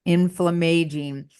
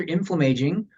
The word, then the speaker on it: inflammaging: So I saw the term coined inflammaging. What are What's that about? What is it? That's great. And And it can be pronounced either inflammaging or inflammaging. Inflammaging. You'll hear it both ways.